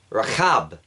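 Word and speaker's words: רחב: But Rahab, the human, her name is actually spelled with a Ches and would actually be pronounced Rahab.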